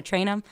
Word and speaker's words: Traynham: Instagram it's l-e-n-a-t-r-a-y-n-h-a-m it's just my name Lena traynum um train with a train with wide and ham that's how it's spelled yeah yeah basically there you go um